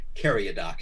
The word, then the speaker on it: Caryadoc: Caryadoc is the way I pronounce it, Duke, but it's really my liege Duke Caryadoc. It's supposed to be a European pronunciation of an Arabic name, and I don't speak Arabic.